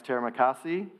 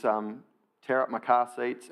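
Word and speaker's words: terima kasih: Up My Car Seats," which is how Australian surfers pronounce Teramakasi, rather than getting their Balinese pronunciation quite right. It was "Tear Up My Car Seats" and "Celibate Puppy."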